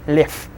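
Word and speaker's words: лев: Lev will be pronounced as lev.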